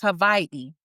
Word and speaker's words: Hawaii: island, you go to, it's actually pronounced Hawaii, okay? Because I'm very big on pronouncing things the way that the culture does, not the way that it was renamed.